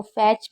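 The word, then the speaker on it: fetch: तो फैच में आप देख रहे हैं टी साइलेंट है, मैच में टी साइलेंट है, एंड वॉच में भी टी साइलेंट है।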